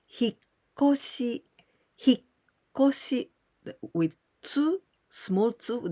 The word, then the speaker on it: 引っ越し: But sometimes we can omit this small tsu and 引っ越し, but still the pronunciation is the same with tsu, 引っ越し. And also, there's a case without tsu and without shi and 引っ越し. So there are three ways, but the pronunciation is always 引っ越し.